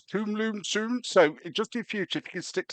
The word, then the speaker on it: Tomlinson: For the record, my name you pronounce Tomlinson, so just in future, if you can stick to that, please.